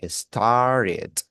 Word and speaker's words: started: Para usted decir comenzó, usted dice started, ¿ok? Va a pronunciar la ED.